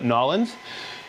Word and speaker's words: New Orleans: from new orleans louisiana that's new orleans new orleans but we call it nollens yazoo from peremera bo